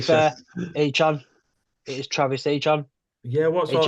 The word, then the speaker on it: Etienne: So yeah, it's Achan apparently now.